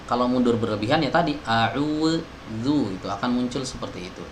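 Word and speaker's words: أعوذ: Nah, kalau ini kesalahan ya, jadi bukan a'udzu itu mirip seperti huruf dal gitu, bukan huruf dal tapi mirip ya, bukan huruf dal, bukan berubah jadi huruf dal, bukan, tapi mirip seperti pelafalan huruf dal ya. Jadi jangan a'udzu tapi a'udzu. Nah, ada gesekan sedikit.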